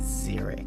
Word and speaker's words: Zurich: Zeric. Oh, it's pronounced Zurich.